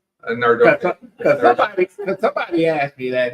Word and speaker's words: Nardone: Nardone. Because somebody asked me that. They said, you don't pronounce his name 3 different ways. I said, hey, I say it's Nardone. That's it. That's correct.